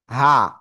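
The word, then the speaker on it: ح: তো দেখেন, এটা আমরা যদি উচ্চারণ বাংলায় লিখি তাহলে কি হয় আকারে? হা, তাই না? আবার এটার উচ্চারণ তো এরকম না, হা, গলাটা চেপে উচ্চারণ করতে হবে।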